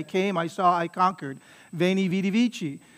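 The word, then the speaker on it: veni vidi vici: i saw i conquered veni vitivici well that's the church pronunciation the ecclesiastical pronunciation of that a classical latinist would say that what he said was wayney witty wiki right that's the classical pronunciation of latin right which sounds funny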